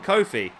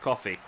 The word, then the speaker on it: Coffey: I've always called him Kofi, but I believe from some of the comments I've had, they're actually pronounced Coffey.